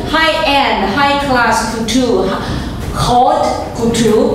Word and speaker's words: haute couture: This is called high-end, high-class couture, haute couture, but the T doesn't sound. Haute couture, well, something like that. Right. So the H doesn't sound, right?